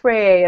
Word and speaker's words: Rayet: They were actually first discovered in the mid-1800s by two French astronomers, Wolf and Rayet, and since they're French, the correct pronunciation is Rayet, not Rayet.